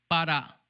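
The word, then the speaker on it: ברא: Só que aqui já pronuncia diferente, com som de A. Bará. Lá em cima é Bereshit, aqui é Bará.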